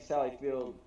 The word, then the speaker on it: Sally Field: to be pronounced field it's no s her name is sally